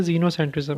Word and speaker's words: xenocentrism: इसकी प्रोनाउंसिएशन जो है जीनोसेंट्रिज्म है। ठीक है, जेड की आवाज़ आएगी, लेकिन जो ये स्टार्ट होता है ये एक्स से स्टार्ट होता है, तो इसकी स्पेलिंग थोड़ी सी ट्रिकी है, तो लिखते वक्त इसका थोड़ा सा ख्याल रखिएगा।